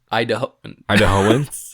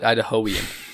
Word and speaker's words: Idahoan: Idahoan. Idahoan? Idahoan. I was right the first time. You said Idahoian.